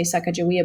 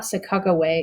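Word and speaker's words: Sacagawea: lot of people say sakajawia but i've been taught sakaway is the more is the more proper native pronunciation so aided by chicago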